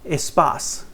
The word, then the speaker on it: Espace: Renault liked it, began working on it, and that became the very famous Espace, or E-Space as it's pronounced.